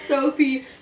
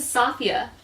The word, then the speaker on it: Safia: not yes it is I read that name wrong the whole time S a f i I literally read that that's Sophie no she's Arabian so her name is safia all right it's